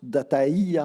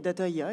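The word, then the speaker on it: DataIA: adjointe de l'Institut, alors j'imagine que ça se prononce Dataïa avec un tréma, Tout à fait. Alors, pas de tréma, mais data IA, effectivement, c'est l'idée.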